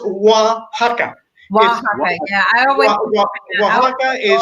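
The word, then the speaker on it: Oaxaca: but on lockdown can't do it it's it's pronounced waka waka yeah I Waka is one of the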